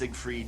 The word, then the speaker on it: Seigfried: It is pronounced Seigfried, but he has an I in there.